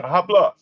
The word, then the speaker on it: habla: Habla. Habla español. This is a motherfucker said to me. Let's see. H is silent. Habla.